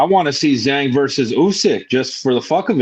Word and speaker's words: Usyk: That's not how you say his name. Usyk. That's funny. Bro, his name is Usyk, bro.